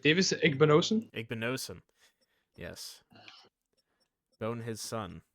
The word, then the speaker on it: Igbinosun: Pick for David Igbonason, right? That's how his name's pronounced. Davis Igbinosun?